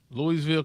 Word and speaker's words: Louisville: Louisville, Kentucky is here.